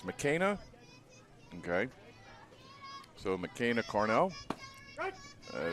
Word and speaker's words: McKenna: I just want to make sure I'm pronouncing this right. It's McKenna.